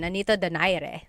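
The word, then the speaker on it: Nonito Donaire: So, our first poll here is going to be Mani Pacquiao versus Nonito Daire or is in in the Tagalog uh pronunciation. Nonito Dare.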